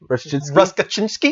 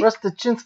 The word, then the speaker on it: Rustachinsky: it's Rustachinsky. Ruskachinsky? Rustachinsky. Usually Russians they pronounce those like weird like consonants. So you actually would say like the T, like Rustachinsky.